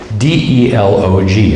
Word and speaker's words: Delog: They are called, I'm going to spell it for you, D-E-L-O-G. I believe it's pronounced Delog.